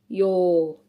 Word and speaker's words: joo: Here I have sata sata sata sata jo joo on oon kukka kukka tilin tilin pata pataa